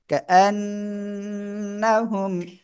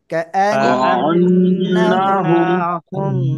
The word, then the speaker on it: كأنهم: হামজা নুন জবর আন, কা আন, নুন জবর না, হামিম পেশুম, কাআন্নাহুম, সবাই জোরে জোরে পড়েন। কাআন্নাহুম, كأنهم كأنهم كأن কাআন্না, কাআন্নাহুম, এভাবে পড়তে হয়, হ্যাঁ।